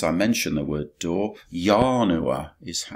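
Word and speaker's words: ianua: mentioned the word door yah Noah is that's how it's pronounced in Latin it means a door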